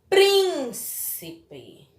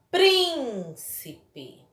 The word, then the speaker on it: príncipe: Então, é a sílaba tônica da palavra. Príncipe. Príncipe.